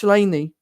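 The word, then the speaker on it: Sláine: should be my God, Shlaine, spelt Slaine with an accent over the I. It's Irish, Gaelic. It's Gaelic language. It's pronounced Shlaine or Shlaine.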